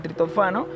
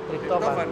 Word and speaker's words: triptófano: genera, arrastra los aminoácidos que compiten con el tritofano, que es el... ¿Qué? Tritofano. Triptófano.